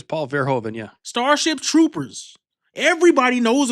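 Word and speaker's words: Verhoeven: Paul Ver, Is that how you pronounce it? Verhovven. I think it's Paul Verhovven.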